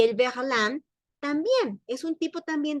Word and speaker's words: verlan: No, no podían poner versland. No, sonaba mejor verlan.